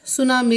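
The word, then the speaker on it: tsunami: सुनामी। इसमें T silent है भाई, ये सुनामी आएगा।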